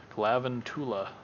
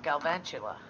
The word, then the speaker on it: Galvantula: Because it's supposed to be like an arachnid, so. Oh, Galvantula. Yeah, Galvantula, yeah. Galvantula. Galvanized tarantula. Yeah.